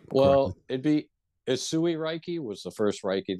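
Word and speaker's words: Usui: and so you're you're practicing uh you're practicing Ursa Reiki I don't know if I pronounced it correctly well it'd be isui Reiki was the first Reiki that I studied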